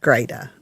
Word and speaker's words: Greta: Great, like great, and then put an A on the end. Greta. That's, I'm great. Greta the Great. Yeah, that'll remind you how to say it.